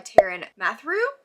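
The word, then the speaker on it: Taran Matharu: Kicking us off on April 2nd is The Dragon Rider by Taryn Mathrew, I believe is how you say that.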